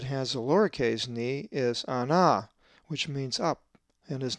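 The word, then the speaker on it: ἀνά: A Greek word that has a lowercase ni is ana, which means up, and is number 303. The accent is over the second alpha, ana.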